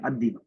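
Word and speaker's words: الديك: अद्दी को, लाम साइलेंट रहेगा, अद्दी।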